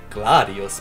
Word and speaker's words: Gladius: And here we get the Gladius, or however you pronounce it. Well, since it is a Roman sword, it should be Gladius, but oh well.